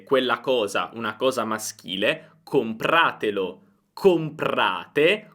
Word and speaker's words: compratelo: Oppure comprate, ora vogliamo dire comprate quella cosa, una cosa maschile, compratelo. Compratelo. L'accento non si sposta, rimane sempre su comprate.